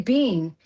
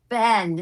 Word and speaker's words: Ben: I say, instead of saying, how do you pronounce Ben in American English? Ben. Ben. Ben. And I say bean. And this girl turned to me, and she was like this 16, 17-year-old girl. She goes, it's Ben.